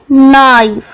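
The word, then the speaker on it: knife: KN जब मिलते हैं तो सिर्फ N की आवाज निकलती है, K साइलेंट होता है, जैसे कि नाइफ।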